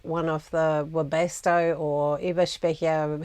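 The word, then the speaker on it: Eberspächer: of the robusto or Eva speaking heaters and yes I pronounced it the German he would have cost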